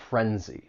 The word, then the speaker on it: frenzy: It just has two syllables. the stress is on that first syllable, frenzy.